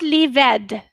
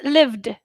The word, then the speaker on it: lived: lived yes oh okay lived yes it's not id you see lived it's not leave ed no it's lived lived not livid not lived it's lived we make it d not id okay kissed kissed kissed